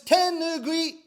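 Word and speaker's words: tenugui: i know you in japanese we call this tenugue in english we call this a hand towel excellent pronunciation when we perform rakugo we wear special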